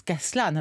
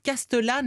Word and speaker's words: Castellane: s'écrit castellane médicaux stanley mais non ça se prononce cas cela n'a lorsque vous dites castellane là vous passez pour un voudrais quand même